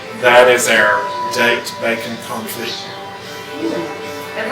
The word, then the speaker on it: confit: You don't say it like it spells. Okay, because it sounds like coffee. Yeah. Confit.